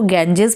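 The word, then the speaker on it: Ganges: अब ये इसको गैंजेस प्रोनाउंस करते हैं, हमारे लिए तो ये गंगा ही है।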